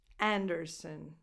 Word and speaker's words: Anderson: Anderson. That vowel before the N at the end is again a schwa.